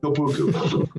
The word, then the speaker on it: TOPUCU: And I just pronounced it like, I just made it up. I made it up, it's like, a toe and Winnie the Pooh and a bird going coo.